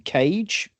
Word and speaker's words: Kage: You can find her on Instagram as East Anglian Cage. So cage spelled with a K rather than what you lock up.